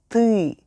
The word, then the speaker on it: ты: It also featured our next U word, ты, which is you in Russian. Take a regular t sound and add a slightly longer Say it with me. Ты.